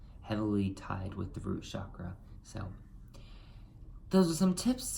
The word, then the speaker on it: chakra: ties in also to your root chakra or chakra excuse me I don't know why obvious I'm